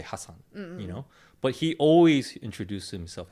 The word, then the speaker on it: Hasan: be too rude, but it's actually pronounced Hassan. It's not Hassan, it's Hassan. Oh. It's spelled Hassan. Oh. It looks like Hassan, but you pronounce it Hassan.